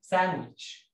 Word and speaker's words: sandwich: مركب، سان شورت اي ساندويتش، والسي اتش هنا بنطقها والدي هنا سايلنت.